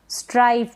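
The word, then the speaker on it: strife: स्ट्राइफ यानी अनबन, ये स्ट्रिफ ना पढ़ें, इसको स्ट्रिफ पढ़ दे, नहीं, स्ट्राइफ मतलब अनबन।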